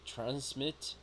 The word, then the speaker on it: transmit: This is to transmit. Transmit. Yes, stressed syllable in trans.